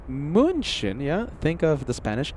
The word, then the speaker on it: München: Ulie says, "Pira, the German, uh, ch sound is pronounced like the Spanish X sound like that in Mexico." So, if you want to say munchin, yeah, think of the Spanish X.